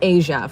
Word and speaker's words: Aja: AJA, like no one knows how to say that, typically. It's Asia for anyone new.